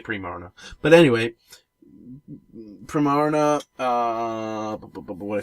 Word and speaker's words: Primarina: I pronounce it Primarina because she's prim and she's based. He or she is prim and proper, but also, I think it's based on the water-related word marina, like where boats dock.